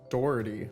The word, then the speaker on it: Doherty: How do I pronounce that? Jack Doherty finally. Doherty.